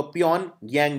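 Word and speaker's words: Pyongyang: और north Korea की राजधानी है प्योनयांग, जी साइलेंट होता है इसके अंदर, तो प्योनयांग बोलते हैं इसे।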